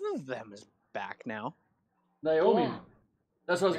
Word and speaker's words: Naomi: It's not Nami. It's Naomi.